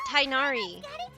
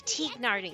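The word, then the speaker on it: Tighnari: It's not Tainari. It's actually Teagnardi, like it's like Teagnati or something like that.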